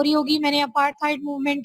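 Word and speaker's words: apartheid: अपार्थाइड movement, अपार्थाइड movement, ठीक है? अपार्थाइड movement या अपार्थाइड मूवमेंट कंबाइन करके बोलना है। अपार्ट है और फिर थाइड, आपने इनको कंबाइन करके बोलना है अपार्थाइड मूवमेंट।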